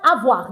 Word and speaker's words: avoir: So the verb awa don't forget why I explained this.